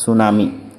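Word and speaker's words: tsunami: সুনামি কি সুনামি শব্দ ইংরেজি বানানটি আছেটিটু মানে সাইলেন্ট টিট প্রনাউন্স না হয় সুনামি ঠিক আছে অটো লিখিবা যে হাগরের তড়িৎ ভূমিকপ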